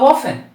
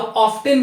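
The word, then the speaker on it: often: किससे, whom, अक्सर कब, हाउ ऑफन, या हाउ ऑफ्टन भी कई लोग प्रोनाउंस करते हैं, बट आप हाउ ऑफन बोलिए, ज्यादा यही चलता है.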